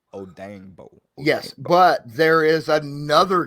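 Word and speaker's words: Odeyingbo: his name i i i would say the last name how you said oh dang bo oh dang bo yes but there is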